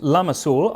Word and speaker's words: lamassul: And being pronounced lamassul, our country people have corrupted it to lamb's wool.